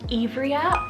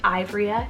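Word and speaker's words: Ivria: i have the name evria or this one could be pronounced ivoria just depending on where you are it's spelled i-v-r-i-a it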